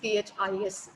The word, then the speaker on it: this: Or you may say this, T-H-I-S, this.